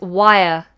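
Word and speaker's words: why're: now is wire wire another homophone this one sounds like a wire like like this is a wire let me show you tube wire this is a wire spelt differently sounds the same but in this case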